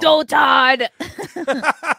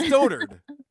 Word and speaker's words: dotard: Doltard. Which, by the way, is not a word. It's dotard. It's how you pronounce it.